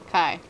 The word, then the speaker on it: Kai: I know. It's Kai. Kai. So it's Kai.